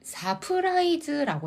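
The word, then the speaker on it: サプライズ: 그건 소래와 서프라이즈니까 할 때 서프라이즈 발음을 사프라이즈라고 해야 돼요, 간이상. 안 돼요. 서가 없어요.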